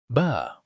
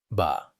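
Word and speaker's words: ب: Ba. Ba. It is pronounced from the wet part of the lips when you join them.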